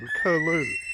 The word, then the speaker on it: curlew: is like a whistle is a uh kerlo so it's c c u r l e w is how it's spelt and uh they're sort